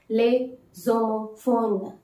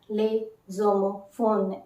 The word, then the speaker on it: les homophones: the homophones in french it is to be pronounced as lay zomo phone lay zomo phone s will not be pronounced and there is a linking of the vowel and the consonant s and ash s and h so that's why the pronunciation is lay zomo phone zomophone in english